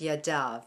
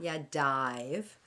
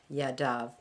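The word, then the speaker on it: ידיו: feet and add the vav so it's it's pronounced yadav not ya dive but yadav that is his hands plural we see that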